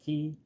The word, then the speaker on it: Cay: I've always heard it as Key, but a lot of people on board here keep saying K, although it's spelled C-A-Y.